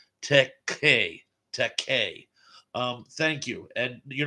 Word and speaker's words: Takei: Tom Lemery says, not to be a jerk, George's last name is pronounced Takei.